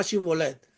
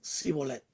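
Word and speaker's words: Shibboleth: Dice, le pedían que pronunciaran la palabra Shibolet. Los efraimitas no podían decir la SH correctamente y decían Sibolet.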